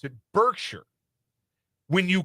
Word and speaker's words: Berkshire: Is it Birkshshire or Hathaway? No, it's Bergkshire. It's Bergkshire.